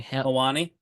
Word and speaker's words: Helwani: very forced, cringe, and Ariel, how do you pronounce the name? Helwani.